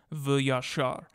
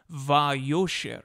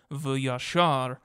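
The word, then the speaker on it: וְיָשָׁר: Many interpreters want to read instead va'yosher, keeping the same consonants but pronouncing them differently. See our website, linked in the description, for a full description of this problem of vocalization and why the Masoretic vocalization, v'yashar, is to be preferred.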